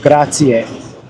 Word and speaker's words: grazie: So remember A is A, Z, E, I is E, and then A, grazie.